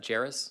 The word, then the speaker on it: Jores: Jores. Thank you. And I pronounce that Jores? Yes, sir. All right, thank you, sir.